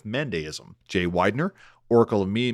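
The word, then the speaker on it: Mandaeism: Guy Stewart, Oracle of me saying Mandeanism instead of Mandeism.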